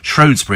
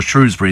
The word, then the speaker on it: Shrewsbury: the town crier from shury and he said people always ask him is it shury or Shrewsbury he said makes no difference at all makes no